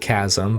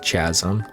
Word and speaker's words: chasm: In other words, today's word is chasm, which is actually pronounced chasm, but it looks like it should be pronounced chasm.